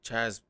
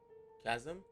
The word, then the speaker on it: chasm: This Chaz, I want to see how you actually pronounce that because I feel like I'm saying it wrong. Chasm?